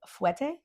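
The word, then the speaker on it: fouetté: Fouette? Fouette. I think I just said it right. Yeah, you did. Fouette. Everyone either says fouette or fouette. Fouette. Like alouette, Jean-Pierre Alouette. Fouette.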